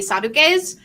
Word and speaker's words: Sadducees: it um but no I said Sadducees just because it's like if I were to actually pronounce it in Greek it would be sad UK's because there isn't a